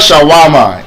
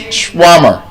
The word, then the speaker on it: shawarma: It's shwarmer. Yes. Oh, I thought you were here. It's not shawarma. It's shwarmer.